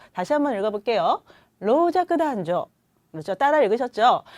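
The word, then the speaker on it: 老若男女: 로자크단조. 그렇죠? 남녀노소 그대로 읽으시면 되는데 발음이 좀 주의하셔야 돼요. 다시 한번 읽어볼게요. 로자크단조.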